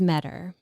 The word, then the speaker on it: Meador: In the introduction, we pronounced Mary's last name incorrectly. Her last name is Meador.